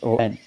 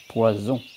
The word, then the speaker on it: poisson: Poisson. And I've noticed sometimes people have difficulty to pronounce it. Just be aware to pronounce the double S as S, poisson. Because some people might pronounce it like poison.